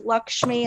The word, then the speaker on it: Lakshmi: hello my name is Lakshmi it's Lakshmi I say it's luck with a schmee if that's helpful I like that great